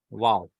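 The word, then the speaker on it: Vav: also, and this one Wow also. But in classical biblical Hebrew, Wow gives a W sound. W sound, that is W. Not B, W. W sound in Wow or Way.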